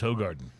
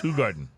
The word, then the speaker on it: Hoegaarden: Yeah, the common incorrect pronunciation is Hoegaarden. Yeah, So right. you've been pronouncing it Hoegaarden. wrong. You've been pronouncing it Hoegaarden. Yeah. But it's Hoegaarden.